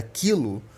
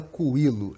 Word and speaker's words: quilo: A exemplo do que ocorre com a palavra queijo, o U presente na palavra quilo não tem pronúncia. Tá bom? A gente não fala coilo, é quilo.